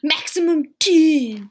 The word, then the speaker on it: mxmtoon: I bet it's mom tune also, but I also want to say mxmtoon. Maximum tune. Yes.